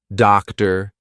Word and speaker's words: doctor: had the sound R now all of these words are going to be spelled with or but you're still going to say what you're still going to say ER okay here we go